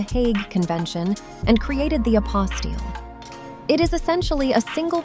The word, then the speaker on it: apostille: It is pronounced apostille, and it is the ultimate bureaucratic hurdle you never knew existed.